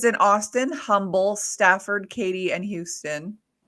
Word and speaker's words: Humble: And you want to know something interesting about humble? In Texas, it's not actually pronounced humble. It's just pronounced humble. Like there's no H there.